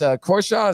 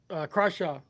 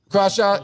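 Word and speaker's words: Crawshaw: So, I just think that Stone or I mean uh that Jeremy, it's Korchaw. Is that how you pronounce his last name? Crashaw. Crashaw.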